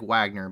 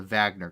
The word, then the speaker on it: Wagner: used by the wagner group it looks like wagner but it's pronounced the wagner group this is a private military corporation or